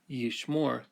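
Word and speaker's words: יִשְׁמֹר: So if we had the word by itself, yishmore, he will keep the accent falls on the last syllable and we use a holum to mark it.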